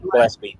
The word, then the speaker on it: Gillespie: Gillespie? Is that it? Gillespie, yeah.